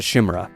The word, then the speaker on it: Chimera: I hope I'm saying that correctly given I got brawled with comments on how I mispronounced the Chimera.